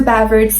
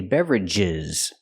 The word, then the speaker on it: beverages: order drink drinks or beverage at the restaurant you can consider using two expressions I cannot pronounce the word beverag drinks and beverages I have to separate the sound and say beverages beverages drinks and Beverages and to